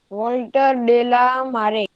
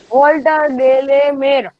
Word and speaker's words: Walter de la Mare: Walter de la Mare. नहीं, मैंने उस दिन भी बोला था pronunciation. Walter de la Mare.